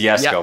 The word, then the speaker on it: Jesko: Is that how you pronounce it? It's Jesko, but yeah.